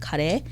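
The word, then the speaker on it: カレー: curries we you know everyone says curry which is fine um in japanese it's called kare but we have like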